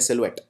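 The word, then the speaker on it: silhouette: बहुत मुश्किल है करना अगर आप पहली बार इस शब्द को देख रहे हैं तो आप इसे कुछ ऐसे प्रोनाउंस करेंगे सिल्वेटे लेकिन इसको बोलते हैं सिलवेट बहुत ही इसमें आपको बोलते वक्त कहीं पे स्ट्रेस नहीं डालना है फ्रांसीसी भाषा का फ्रेंच वर्ड है सिलवेट और सिलुएट् आया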